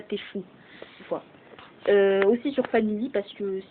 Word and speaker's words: TF1: Enfin TF1, mais en gros on prononce ça Tfou.